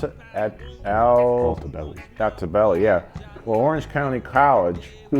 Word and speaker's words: Altobelli: Well, John, how you pronounce it? Altobelli, yeah.